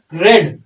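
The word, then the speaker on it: read: यहां हम इज नहीं यूज करते, बुक्स आर रेड। यहां हमारी जो मेन वर्ब है वो रीड है, इसको हम जब थर्ड फॉर्म में यूज करते हैं इसे रेड पढ़ा जाता है, लेकिन स्पेलिंग सेम ही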